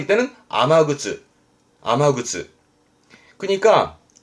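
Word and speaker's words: 雨靴: 그래서 발음은 이때는 아마굿즈. 아마굿즈. 그러니까 비 올 때 신는 신발 있잖아. 뭐 레인부츠 같은 거를 말하는 거죠. 근데 이 조심할 건 아메가 아니라 발음이 아마로 바뀌는 거죠.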